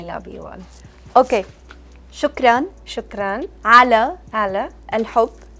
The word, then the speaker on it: شكرا: شكرا Shukran.